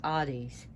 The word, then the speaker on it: Hades: he would be pronounced Hades. They do not pronounce the H the way we do it, the Hades.